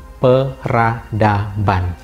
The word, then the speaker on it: peradaban: Dia tidak lagi diucapkan sebagai P, ya, meskipun ditulisnya B, tetapi dilafalkan sebagai B. B-nya muncul kembali, yakni peradaban.